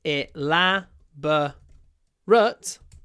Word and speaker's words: elaborate: But the adjective is e la bo rut rhymes with hut. Elaborate. Elaborate. The stress stays on the second syllable, but the final syllable changes.